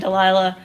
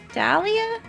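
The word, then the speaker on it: Dahlia: some time to inpection you will say her name right by God what did I say you you've called her to Lila every time that name Dalia d a h l i a Delila would be uh DH l i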